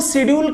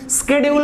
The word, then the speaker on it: schedule: चीज और, अनुसूचियों को शेड्यूल कहते हैं। इसका प्रोनाउंसिएशन स्केड्यूल भी होता है। सही रूप से अगर देखा जाए तो कई लोग इसको देखा होगा शेड्यूल पढ़ते हैं, शेड्यूल, लेकिन स्केड्यूल होता है।